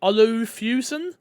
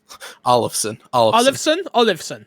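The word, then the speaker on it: Bang & Olufsen: Is it Olufusen? Olufusen? 1 second. OLUFSN. Come on, Chris, hit me. Bang. Olufsen. That works.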